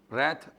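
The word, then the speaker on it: wrath: ना ओके इसके अलावा रथ डब्लू आर ए टी एच रेथ में डब्लू साइलेंट रहेगा ठीक है ना एक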